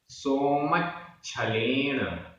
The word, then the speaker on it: सोमच्छलेन: सोमच्छलेन, सोमच्छलेन आधा च छ, सोमच्छलेन रइया, रइया।